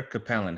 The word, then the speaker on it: Capellan: Either way, like growing up, I got both. So I got Capellan from like family and then Capellan from all coaches. So either there one.